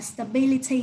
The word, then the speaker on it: stability: Mình sẽ đọc là stability ha.